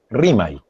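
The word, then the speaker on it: Rimay: Y si uno dice RIMAI, la gente se sorprende, porque la palabra, la pronunciación es RIMAI. Y es una campaña que estamos haciendo para también divulgar la pronunciación correcta del nombre.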